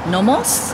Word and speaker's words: NOMOS: just wants to check out the German watches nomos is how you say it nomos glash made